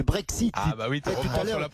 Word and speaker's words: Brexit: Pourquoi tu remplaces le X par le Z, toi? C'est-à-dire? C'est pas le Brexit, c'est le Brexit.